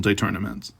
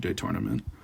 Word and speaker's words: détournement: And you notice this is a funny pronunciation I'm making. I could just say détournement. That would be the English way, but this is French terminology, so I'm saying détournement. I'm probably not even pronouncing it correctly.